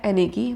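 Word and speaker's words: anarchy: हम क्या बोलते हैं, प्रोनाउंसिएशन तो उसका है एनेकी, बट उसको हम एनार्ची बोल देते हैं, बट प्रोनाउंसिएशन प्रॉपर है वो है एनेकी, क्लियर।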